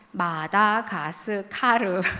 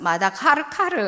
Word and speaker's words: 마다가스카르: 마다가스카르. 발음도 어려우시죠? 저희 모치는 마다카르카르 뭐 이런 식으로 발음하시는데, 저희가 섬나라고 아프리카의 섬인데 저희가 본토인과는 좀 달라요.